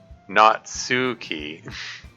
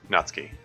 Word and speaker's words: Natsuki: make it very subtle like the knot part is easy and then you do this and and instead of heading right for the sound just release it for a fraction of a second like you're going to do the Su sound but then do the K hopefully that makes sense